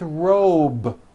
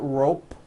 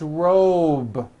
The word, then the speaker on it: robe: a voiced be ending same thing with robe also has a voiced be ending it's not rope with an unvoiced p it's robe okay let's go over these